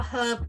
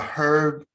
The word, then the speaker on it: herb: No, I'd have a herb garden. Uh, okay, a herb and an herb garden. Okay, why do you call it herb when it's clearly spelled Herb? The H is silent.